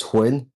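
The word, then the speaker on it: Huynh: I've been saying Hun. Is that correct or even close? It's close enough as Huyn, kind of like Huyn. Huyn. Quinn, gotcha.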